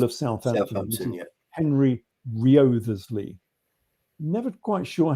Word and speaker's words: Wriothesley: If anyone wants to look at it, it's spelt Wriothesley, Wriothesley. Yeah. But I think the W is silent.